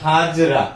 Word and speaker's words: হাজরা: তাহলে সাব্যসাচী হাজরা, এটা কিন্তু হাজরা, অন্য কিছু উচ্চারণ করা যাবে না, সাব্যসাচী হাজরা বলতে হবে।